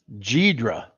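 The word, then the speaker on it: Ghidra: Jydra. Or Gydra, how you pronounce it? Gydra.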